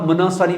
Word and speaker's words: monopsony: तो the other guy talked about मोनोसोनी market. इसमें P silent होता है, MONOPSONY.